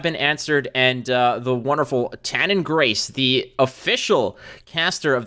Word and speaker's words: Tannon: It's spelled phonetically, but it's Tannon.